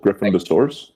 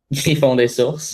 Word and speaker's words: Griffon des Sources: Griffin de Source. Yeah. How do you say it? Griffon des Sources.